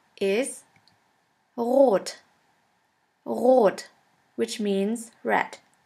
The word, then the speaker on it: rot: In order to pronounce this letter right, you have to gargle in the back of your throat until it starts to vibrate. R. R. Now try. That is how we officially pronounce the German R, but in some region in Germany we also use the Spanish R.